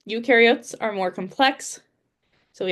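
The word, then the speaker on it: eukaryotes: As I said, ukareotes are more complex. So, we have plants and animals as our main two that we focused on this year. So, u rhymes with do.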